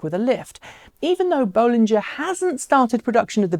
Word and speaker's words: Bollinger: over just where it got that system from Bollinger apparently that's how you say it so sorry